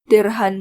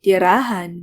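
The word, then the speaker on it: tirhan: fruits for your sister derhan monang prutas mo again han was added instead of on and it is not dirahan but it is der han the rahan is a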